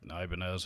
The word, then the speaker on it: Ibanez: it's just you know it's not the hispanic uh pronunciation of the banyas that many of us over here in the west are familiar with but you know regardless i mean the company has always pronounced it ibanez so if that's how